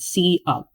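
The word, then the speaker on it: cout: c you pronounce that c up because it stands for c output and then le 2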